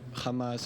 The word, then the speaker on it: Hamas: Israelis say Hamas, the Hamas. There's not chet, okay?